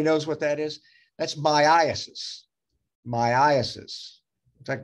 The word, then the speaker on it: myiasis: That's myiasis. Myiasis. In fact, Dr. Rapini says it should be pronounced myiasis. He's probably right, but I've always heard of myiasis.